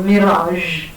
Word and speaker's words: mirage: And then you have decision, not decision, like we normally pronounce, and mirage, what you see in the desert, right? So mirage. And we Indians, we tend to substitute this sound with sh.